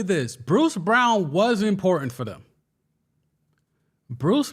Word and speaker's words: Braun: So maybe Brown gets the minutes of, well, Brown that's spelled Braun.